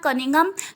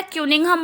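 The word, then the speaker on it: Cunningham: बच्चे, जो first personality के बारे में हमने पढ़ना है उसका नाम है कनिंघम। कनिंघम बोलो या क्यूनिंघम बोलो, ठीक है, दोनों तरीके से आप इसको प्रोनाउंस कर सकते हो।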